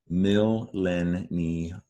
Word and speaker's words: millennials: Now, something I'm reminded of reading these words again, there's a Y sound, right? In both of these words, millennials, millions. We don't spell it with a Y.